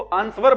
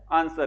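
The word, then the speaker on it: answer: आंसर। इसमें जो डब्लू होता है ना डब्लू क्या होता है इसमें? साइलेंट होता है। और आर भी साइलेंट होता है लास्ट वाला।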